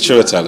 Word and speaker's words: Chiwetel: I mean, yes, CHIWETEL is the pronunciation of my name.